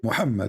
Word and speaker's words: Muhammad: i say muhammad is that how you say muhammad yes yeah so listen this is this is al bukhari which one is a trustworthy for the muhammadan my friend my friends so when he explained